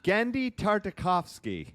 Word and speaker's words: Genndy Tartakovsky: world tell me about it how do we pronounce his name Grandy tar uh Gandhi tartikovsky yes perfect yes um just finished Primal season